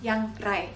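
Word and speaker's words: ยังไง: 버법 포인트는요 바로 의문사 어떻게 양 라예 양 라이 여기서 라이 발음 주의해 주시고요 그럼 의문사 양 라이가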